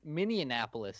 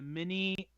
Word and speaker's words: Minneapolis: your fault Chad oh what's wrong with Minneapolis pronounces it Minnie Minnie Annapolis is the problem with it oh there it's a Minneapolis okay I'm so bad mark can we and